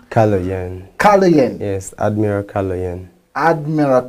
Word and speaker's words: Kaloyan: goes by the name, I don't want to pronounce it as yet because I'm still learning how it's Kaloyan. Kaloyan.